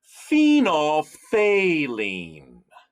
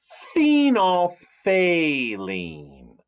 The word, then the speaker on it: phenolphthalein: and it is called phenolphthalein say it with me kenya phenolphthalein oh that is just a cool science word let's look at it the ph is pronounced as an f phenol everybody say fenolf